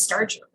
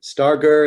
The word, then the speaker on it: Starger: at u-bolt u-b-a-l-t dot e-d-u thank you for pronouncing that because i always thought it was starcher yes um star gur is how my dad says it so that's